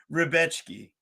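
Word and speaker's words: Rebecki: Matoush Rebechki. It's like if Rebecca was a bitch and you wanted to give her a nickname.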